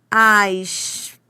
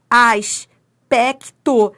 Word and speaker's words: aspecto: Bom, primeiro, primeiro, primeiro veja se você pronuncia todas essas consoantes. Você pronuncia todas, ó, aspecto. Sim, você pronuncia o S, pronuncia o P, pronuncia o C, pronuncia o T.